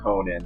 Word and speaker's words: Konan: it is but i just like calling conan conan i know it's pronounced conan but i'm just used to calling